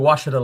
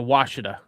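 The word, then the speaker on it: Ouachita: You mean the Washita Lake? Yeah, the Washita.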